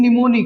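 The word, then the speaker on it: mnemonic: अब जो coordinate conjunctions हैं, इनको याद करने का एक ही बहुत ही बेहतरीन निमोनिक है, राइट। स्पेलिंग यही होगी, एम साइलेंट है, राइट।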